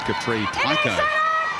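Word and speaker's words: Capri Paekau: Back up dummy half is Capri Pico, as she calls herself on the pronunciations.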